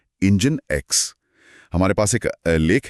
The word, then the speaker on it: NGINX: हां, NG आई एनएक्स जिसका उच्चारण है इंजन एक्स।